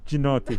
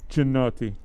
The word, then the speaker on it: Giannotti: It's actually pronounced Gianotti. Giannotti. It's Giannotti.